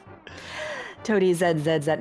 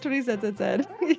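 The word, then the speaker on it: ToadieZ: Toadie Zed. Do you actually? Is that how you say your name, Toadie? Well, yeah, that's how it's spelled. It's not Toadie Z. No, it is Toadie Zed.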